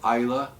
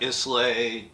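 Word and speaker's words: Islay: um and the name of the island is ISA Isa yeah not isay I know I did my research yeah it's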